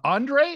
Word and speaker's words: Ondrej: something pretty cool uh Andre is that is that the correct pronunciation of your name H yes it's it's my name it's correct perfect and where do you